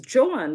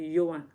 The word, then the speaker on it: Joan: But if you pronounce it a Dutch way, it will be Yoan.